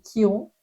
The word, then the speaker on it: Chiron: Donc Kiron l'astrologie ça s'écrit Chiron et moi je dis Kiron. Kiron en anglais c'est quand même plus stylé.